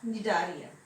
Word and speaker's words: Cnidarian: In this Cnidarian, the spelling started with C, but C is silent. We pronounced it as Cnidarian.